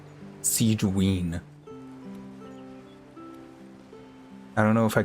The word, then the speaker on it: Sigewinne: Siege should be nearby she says it like Siege ween like weener SI ween I don't know if